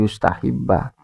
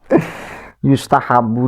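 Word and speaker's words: يستحب: Apalagi bacanya tadi yustahibba. Yustahabu disunahkan, Pak.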